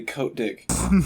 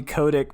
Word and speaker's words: Kotick: to tell us oh it's pronounced codec don't say coat dick no his name is Bobby Kotick but I was like say coat dick but his name's actually Bobby Kotick have you seen em